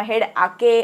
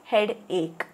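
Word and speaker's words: headache: cinema आला है किंवा जरी स्पेलिंग असेल एच ई ए डी ए सी एच ई तरी हेड एच किवा हेड आके अस काही वाचा नहीं है इट इज हेड एक ऑलराइट आई हैव अ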